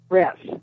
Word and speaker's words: Ress: RESS.